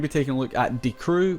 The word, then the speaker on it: Die Crew: taking a look at D crew which I believe is now how you pronounce it thank you to those in the last video that told me I was previously pronouncing it die crew and these guys are